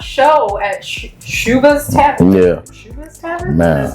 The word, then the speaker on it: Schubas: Schubas Tavern?